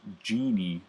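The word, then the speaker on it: Gini: it the genie coefficient this is pronounced genie the genie coefficient um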